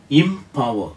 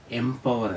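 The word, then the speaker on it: empower: ഒ ഡബ്ല്യു ഇ ആർ ഇംപവർ എന്നാണ് എംപവർ എന്നല്ല അടുത്ത വാക്ക് ഇ എൻ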